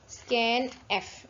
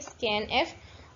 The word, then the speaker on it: scanf: ठीक है, तो ये हम इसको नॉर्मली प्रोनाउंस कैसे करते हैं, स्कैन एफ। इसको कैसे प्रोनाउंस करते हैं, स्कैन एफ।